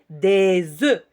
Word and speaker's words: œufs: On dit un œuf, le pluriel, des œufs. On ne prononce pas le F.